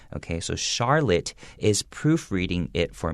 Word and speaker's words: Charlotte: it for me now she's in a charlotte chandelier so charlotte even though it starts with ch and traditionally it has a ch sound and this situation is